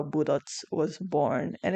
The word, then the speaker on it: budots: B U D O T S budots. And don't say it like "baduts". I saw I saw a video of someone covering uh budots and they pronounced it "baduts".